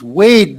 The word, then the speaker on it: weighed: one word there yeah it's weighed down not weighted down but way down okay yeah wait and that's just w long a d wade wade so i weighed myself